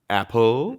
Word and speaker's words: apple: David apple apple apple so apple is not standard it's apple and that's how stresses work in this word the first syllable is stressed and the second syllable is unstressed Apple do a regular